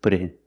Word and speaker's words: put in: in for install pronunciation the T input sounds like a fast D put it put it put it in put it put it